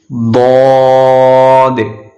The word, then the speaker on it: ضاد: ضاد ضاد. This is also we have to pronounce with the thick voice.